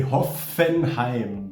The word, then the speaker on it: Hoffenheim: i like this and in germany we say hoffenheim but i know the the this kind of